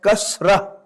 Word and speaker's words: kasra: For further convenience, you will find in the Arabic to English dictionaries that even the last H is not pronounced.